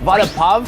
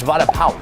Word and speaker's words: vada pav: First of all, vada pav, that's not how you say it. It's vada pav. Like, pow.